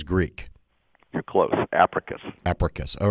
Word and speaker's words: Apricus: joined on the show with richard pascoe ceo oprius did i pronounce it correctly richard no uh it's africa biosciences sounds greek you're close africus all right thanks for helping me out with